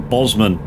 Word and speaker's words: Bozeman: Bozeman. Or Bosman, depending how you want to pronounce it.